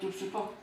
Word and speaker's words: Düsseldorf: Is that how you say it? Dusseldorf? Yeah, Düsseldorf's.